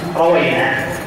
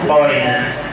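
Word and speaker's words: رُوِّينا: ثم قال المصنف رحمه الله تعالى وهي تكمله مقدمه اما بعد فقد روينا تسجيل الواو المكسوره وينطق روينا ولا ينطق ايضا روينا عن علي بن ابي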